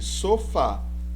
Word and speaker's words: sofá: Veja este caso aqui, sofá, sílaba tônica fá. Então, última sílaba, pronunciada mais forte.